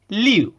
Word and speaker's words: Liu: and ice keeps him Lou because that's how it's pronounced like phonetically properly in Spanish you